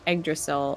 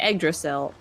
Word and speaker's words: Yggdrasil: Dirk Pit Rivers says, FYI, the stress is on the Y in Yggdrasil, so it's pronounced like Yggdrasil, just with a Y.